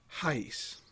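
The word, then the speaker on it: Arrais: pronouncing his name, because if you look at his name, it doesn't sound like that. He's from Brazil, and he has a beautiful accent when he speaks English. I'm sure he speaks many other languages, including Portuguese, which is what they speak in Brazil, and it's pronounced Hayes.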